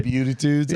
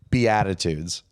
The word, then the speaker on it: Beatitudes: Oh, the be Oh, the butitudes. Oh, okay. How do you say it? Beatitudes. Oh, I read his butitudes.